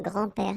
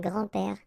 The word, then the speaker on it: grands-pères: Okay, so it's not really difficult, and especially if you think about that, you don't pronounce this S, so actually phonetically it's the same grand-père here and grand-père here.